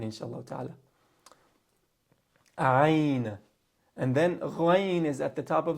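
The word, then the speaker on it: غين: Again, ghayn, the sound that ghayn makes does not exist in the English language. So many native English speakers, they have difficulty pronouncing this letter. So they'll say ga. They'll turn it into the closest letter to that in their native tongue or in English.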